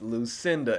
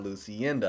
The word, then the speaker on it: Lucinda: So it's Lucinda and not Lucinda. I used Google to hear it, so I knew how to pronounce it.